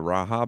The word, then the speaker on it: Raja: correct yeah I forgive his name is pronounced Raja Raha but yeah Raja de clone